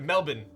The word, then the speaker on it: Melbourne: Oh, you pronounce it Melbourne, not Melbourne? Oh yes, you got it, Melbourne.